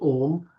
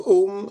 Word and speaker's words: Om: Just open your mouth. What sound comes? Ah. As you close your mouth, it goes to oo. And when you close, it becomes mm.